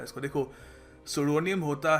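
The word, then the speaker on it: pseudonym: देखिए अगला शब्द है सुडोनिम। जी हाँ, पी साइलेंट है, हम इसको पेसुडोनिम या जो भी नहीं कहेंगे, इसको हम कहेंगे सुडोनिम।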